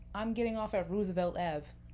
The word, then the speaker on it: Roosevelt: president and the president's name was Roosevelt not Roosevelt so it's like I'm justified in correcting you if you are not pronouncing something correctly or if you're just